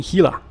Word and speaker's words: Gila: I think they settled on not really pronouncing the G or J at the front, G it is, and just saying Gila. I think that was what it's meant to be pronounced at.